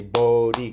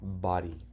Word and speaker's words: body: Even though it's body, it should say Bodhi because it's two syllables. That means it's an open syllable. You say, oh, but it doesn't sound right. So you have to say, body.